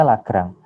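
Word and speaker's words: Lagrange: adalah 2x + 2y plus dari lagrang ini bacanya lagrang tanda ini lambda ini lambda kita bacanya lambda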